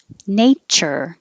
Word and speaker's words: nature: kitchen kitchen chicken chicken nature it doesn't look like it but this tu is really a cha the same exact sound as in kitchen and chicken nature nurture when you